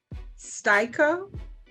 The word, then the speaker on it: Stico: Styko.